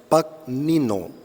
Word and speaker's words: Pagnino: Pero es interesante que el que dividió los versículos, la Biblia en versículos, fue un judío converso llamado Santos Pagnino, así se pronuncia, Pagnino.